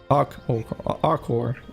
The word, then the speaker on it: Hakor: I normally pronounce the H. Acor. Hakor. Hakor. Yeah, like hawk. Hakor.